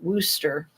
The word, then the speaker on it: Worcester: one that's like um Wooster is how you say it but that's not how it's spelled it's spelled like Worster um norfol county is